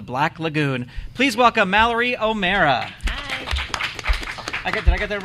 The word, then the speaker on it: O'Meara: And then I was like, I still would want to hear it, but it's mare like bear, not mere like fear. Mara.